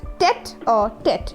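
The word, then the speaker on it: tête-à-tête: This particular word is pronounced as tete-a-tete.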